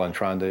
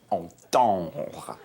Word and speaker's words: entendre: Kind of a double entendre, if you will. Forgive me, but I believe the proper pronunciation is entendre.